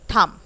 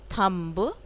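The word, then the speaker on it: thumb: थम, इट्स नॉट थम्ब, थम्ब नहीं बोलते हैं, थम बोलते हैं.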